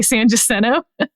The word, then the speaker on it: San Jacinto: You pronounce it Jacinto? Yeah. Okay, that's interesting. Go ahead. San Jacinto. I've always heard it, but that's just me. In Houston, we say San Jacinto.